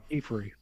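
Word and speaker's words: Qifrey: Um Kefrey Kefrey there was a scene where you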